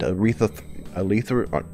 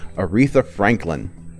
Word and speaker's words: Aretha Franklin: oak from Pokemon we also lost Motown legend retha Lee Thor keep getting her name wrong Aretha Franklin and we also recently lost Senator John McCain